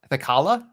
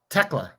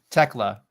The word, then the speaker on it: Thekla: I think so, but you're not saying it right. What is it? What is it? I have to look at it to read it. It's Thekla. Tekla. Tekla. We call her Tekla.